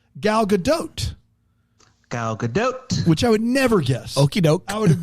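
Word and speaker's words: Gal Gadot: And you pronounce the T at the end of it. Galadote.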